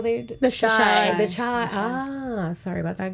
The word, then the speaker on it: Chi: Am I pronouncing this right? Chi? Is that how they? The Chi.